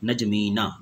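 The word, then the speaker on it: N'Djamena: नजमीना, pronounce कर लें नजमीना।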